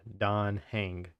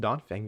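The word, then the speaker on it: Dan Heng: I'm pretty sure it's Yeah, Don Hang. Don I said Fang before, too. My bad. Don Hang. Just Don Fang just sounds more It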